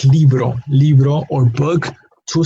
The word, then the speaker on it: libro: wrong it's leave wrong meaning that it ends it ends in a vowel so it has its emphasis on the second-to-last syllable so this first column